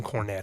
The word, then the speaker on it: Cornett: So how do you pronounce it? I am and forever will be Tim Cornett.